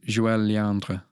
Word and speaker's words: Joëlle Léandre: But on that course, there was this amazing bass player called Joëlle Léandre. Mm-hmm. Is that good pronunciation?